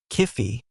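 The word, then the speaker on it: Kyphi: Kifi, pronounced K-O-O-Fi, unless you want your soul rejected by Osiris, was a complex, sacred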